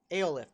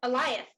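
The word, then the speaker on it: Alioth: Aolith, the cloud. Oh, Eliath. Eliath, thank you. See, I can't even remember how it's said. Eliath. Like Goliath, but just with no G.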